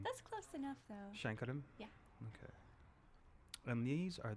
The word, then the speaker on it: Sankaram: all right hello how do you say your last name again shankaram shankaram see I never would have said that right that's okay I would have said I would have said sarum and I would have